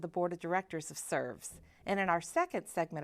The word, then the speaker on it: SRVS: Once called the Shelby Residential Vocational Services, this organization is now simply named SRVS, pronounced SERVS. And what an appropriate name, as SERVS works to enhance the lives of people with disabilities in a very unique and comprehensive way.